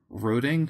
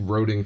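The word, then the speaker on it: Roeding: Hi, it's me, Marcus Johnson, 8 years old from Roding, Fresno? I don't know. How would you pronounce it? R-O-E-D-I-N-G. Roding, Fresno?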